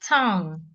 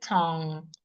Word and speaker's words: tongue: and we usually have that sound when you have NG G or n k in the word like tongue I have a long tongue I have a short tongue tongue not tongue we don't pronounce the G we say t t not Tong Tong we can also have